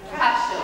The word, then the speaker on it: Cashel: Cashel. I think I say it right. Rock of Cashel, cash, as in money, cash.